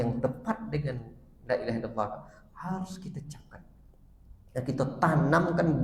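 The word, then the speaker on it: لا إله إلا الله: Sallallahu Alaihi Wasallam buat dan diajarkan para sahabatnya dibacanya Lailahaillallah ini dipahami dan dijiwai mereka makna makna hati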